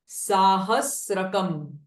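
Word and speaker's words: सहस्रकम्: अ अनुस्वारा नाम नाम साहस रकम ट थाउ साहस एंड इट इज नॉट स्त्र बट इट इज स साहस कम जगु एवं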